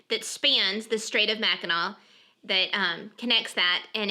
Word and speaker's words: Mackinac: that I'm not it's they're both pronounced Mackinac so win it whether it's ends in an AW or an AC still Mackinac I didn't realize that